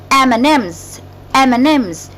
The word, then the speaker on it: M&M's: M&M's, which is actually we write it M and M's. However, when we pronounce it, we say N. M&M's.